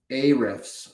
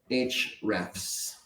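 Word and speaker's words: Ahrefs: I spoke about uh a riffs earlier or as they would say I think the company pronounces it h refs. I don't know why they don't pronounce the A.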